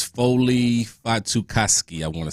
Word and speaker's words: Fatukasi: One guy that pops to mind, I'm going to say his last name wrong, but it's Foley Fatukasi, I want to say. Fatukasi, yeah.